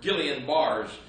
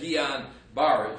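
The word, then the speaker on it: Guillain-Barré: They said maybe Guillain-Barre's syndrome, or Guillain-Barre's is spelled, but it's said Guillain-Barre syndrome.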